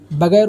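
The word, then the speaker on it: ب: इसको उर्दू में हम लोग बे पढ़ते हैं और बे को हम हिंदी में ब कहेंगे।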